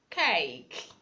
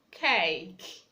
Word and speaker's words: cake: Okay, we have words like cake, cake. The E is silent.